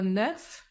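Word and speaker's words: neuf: година іде завжди зв'язуванняз а слово неф яке закінчується на ф девть при зв'язуванні зі словом година отримує звук в так у цьому уроці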